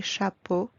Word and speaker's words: chapeaux: As you noticed, we don't pronounce the letter X at the end. X remains silent. Des bateaux, des chapeaux, des manteaux, des troupeaux de moutons, des cheveux.